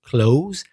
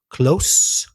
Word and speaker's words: close: You can pronounce it close and you can pronounce it close depending on the meaning. It's the same spelling, but the pronunciation changes according to the meaning. So close, that's unvoiced, cerca, and close, voiced, cerrar.